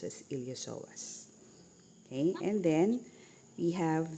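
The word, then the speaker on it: iliopsoas: yan so you have here the here the ilosoas no okay there the ilosoas so it's spilled ilopsoas but it's pronounced as ilosoas Okay.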